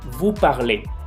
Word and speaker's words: vous parlez: O pudiéramos decir que la EZ, el conjunto de esas dos letras, se pronuncian como E. Vous parlez.